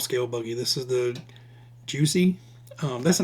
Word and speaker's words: Jiusi: This is the Juicy. Um, that's the name I'm going with. I haven't I've heard it pronounced Juicy. Um but I haven't heard it pronounced any other way. So we're going with Juicy RC.